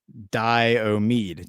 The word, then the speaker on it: Diomede: The AKRU boundary islands are pronounced Diomede.